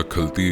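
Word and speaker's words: Khalti: पहले मैं व्लॉग में इसको खलती कह रहा था। खलती गलत प्रोनाउंसिएशन है, सही प्रोनाउंसिएशन है खलती, खे से।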